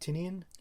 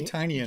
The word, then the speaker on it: Tynion: How do you pronounce it? Tinian? Tinian? I would say Tinian, James but...